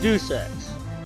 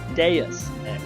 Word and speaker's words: Deus Ex: I forgot to mention that I looked up the pronunciation of this because I used to pronounce it as Deus Ex. It's actually pronounced Deus Ex.